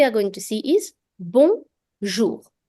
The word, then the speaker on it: bonjour: The J also will be smooth, like the word measure. So the J will be a J kind of sound. And OU creates the sound OU. So bonjour.